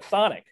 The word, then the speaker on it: Chthonic: And it is pronounced Chthonic with a TH.